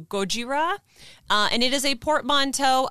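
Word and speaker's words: ゴジラ: heard a lot of the japanese pronunciation is closer to gojira and it is a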